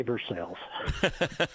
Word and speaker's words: Versailles: Well, if he's familiar enough with Central Kentucky, he should say it properly and say Versailles.